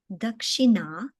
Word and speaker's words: Dakshina: Pronunciation, Dakshina.